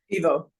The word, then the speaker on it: Ivo: Is it Ivo or Evo Vonhov? Evo. Evo.